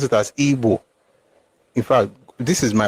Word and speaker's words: Igbo: It's still IBO, and I pronounce it as Igbo. In fact, this is my own way to protest that your stupid Igbo or Igbo nonsense that you guys are doing. It is IBO, but the pronunciation is Igbo.